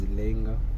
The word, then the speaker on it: Langa: Langa, but you might pronounce it as Langa.